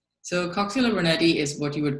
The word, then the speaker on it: Coxiella burnetii: Did I pronounce it correctly? - Coxiella burnetii, yes, you did.